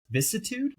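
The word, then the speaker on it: vicissitude: Uh our next strategm, warped vis vissitude. Vissitude, that's how I'm pronouncing that.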